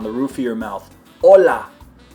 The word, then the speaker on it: hola: roof of your mouth Ola I put it up on the roof of my mouth and it should be really firm that's why you don't